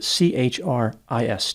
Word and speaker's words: Christ: name in the media it is spelled CHR i s t but the t is silent so he pronounced his